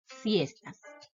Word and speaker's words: siestas: Ahora vamos a ver dónde se hace la mayor fuerza de voz. Es decir, vamos a identificar el acento. Siestas. El acento en esta palabra está en la primera sílaba, en sies.